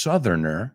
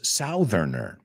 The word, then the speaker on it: Southerner: Pero ya cuando ponemos Southerner, es la misma palabra, South, pero no se pronuncia South. No es Southerner.